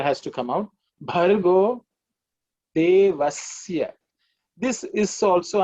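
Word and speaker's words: देवस्य: Bhargo Devasya. This is also, I have heard people pronounce it as Shya. Okay. It's Isya, which is dental. The tongue should be just touching the teeth.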